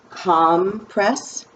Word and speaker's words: compress: do they are able we are able to pronounce this word two different ways we can pronounce it calm press when we want it to be a noun because it's that cloth